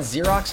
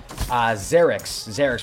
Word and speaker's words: Xerix: What's going on, Xerox? How you doing today, man? I think I just mispronounced your name. Xerix, what's going on, man?